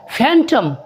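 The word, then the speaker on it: phantom: टी ओ एम भूत फैंटम क्या हुआ कि हमने इन इन साउंड्स को जो है सब को जो है यूज किया पी एच को हमने फ में बला ठीक है य एन ये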